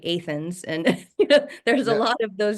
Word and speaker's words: Athens: And even like the city, to me it looks like Athens. They say Athens, and there's a Yeah.